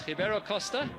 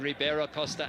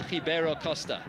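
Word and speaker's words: Ribeiro Costa: going to be interesting to see it's it's hio Costa and aende and those are in fact the correct pronunciations of those two players names in case you're wondering why I'm not saying Ribera Costa and alende it is aende and hio Costa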